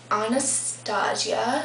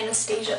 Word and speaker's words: Anastasia: I'm going to take Anastasia it looks like Anastasia but everybody pronounces it Anastasia this is the Brow